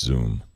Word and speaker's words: Xoom: it looks like it's zoom no it's just zoom okay motorola got a lot of attention but